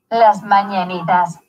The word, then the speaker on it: Las Mañanitas: Okay, let me pull up the pronunciation. Las Mañanitas.